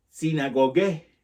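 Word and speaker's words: συναγωγή: Del griego se pronuncia, se dice sinagogue, que significa lugar de reunión.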